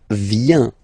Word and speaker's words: vient: Okay, then il, elle, vient, final T not pronounced.